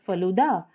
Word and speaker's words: falooda: visits to Chennai Delhi it's pronounced the word as faluda and not falooda as we pronounce in Tamil Nadu I tried pronouncing it